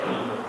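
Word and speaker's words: علم: Nah, kalau yang ilmu Ainnya pakai kasrah, lamnya sukun gitu.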